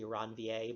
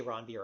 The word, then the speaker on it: Ranvier: who first described them should be ranvier but of course we never pronounce it right so say Ron beer or nobody'll know what you're talking about sometimes a little side